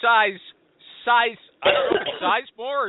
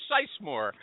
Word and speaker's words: Sisemore: Jeremy size more or seismore. Welcome to the show. Thank you. And it's pronounced like it has a Z.